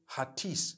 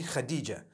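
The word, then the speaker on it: Hatice: across the name khadijah in turkish some people spell it h h-a-t-i-c-e i would say hatis for that no it's actually khadijah in turkish that's the way they write it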